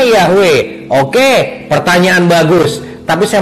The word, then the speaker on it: Yahweh: Jadi orang Yahudi tahu nggak cara nyebut nama Yod He Waw He? Tentu mereka tahu, dan dibacanya adalah Yahweh. Oke, kembali lagi soal keselamatan.